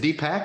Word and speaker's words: Deepak: Is it Deepak or Deepak? Did I say that wrong? Yeah, it's pronounced both ways.